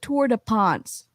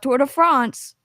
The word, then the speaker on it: Tour de France: earnings call oh yeah he pronounced it toward a ponce not tour de france that's what you pronounce